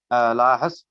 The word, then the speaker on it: Lahas: Give me the correct pronunciation of the last name, please. Lahas. Lahas. Yes.